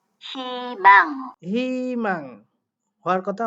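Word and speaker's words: 희망: যেখানেই বসুক হৃষ্টিকার উচ্চারিত হয় খেয়াল করেন ই হেমাং হিমাং হওয়ার কথা হুইমাং কিন্তু হচ্ছে হিমাং পরে না বলছে এখানে দেখেন হিনসেক এটা উচ্চারণ করবে বাট হওয়ার কথা ছিল কি হুইনসেক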